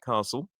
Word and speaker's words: castle: We don't pronounce the T.